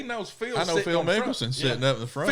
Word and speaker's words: Mickelson: And when we get on, in first class, there's Phil Nicholson, how you say his name? Phil Mickelson.